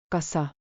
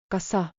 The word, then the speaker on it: kas sa: Sounds like cause. saw like saw. Put them together. Kassa. Structure reminder. Kassa. Plus base verb. Avada. Rääkida. Öelda. Anda. Add softeners like palun. Please. Kassa rääkida aeglasemalt, palun.